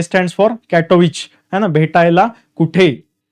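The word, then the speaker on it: Katowice: फॉर कॅटोविच ठीक आहे ते डब्ल आय सी जरी असल नंतर त्याच प्रोनन्सिएशन विच आहे कॅटोविच त्याच्याच बरोबर पुढे आहे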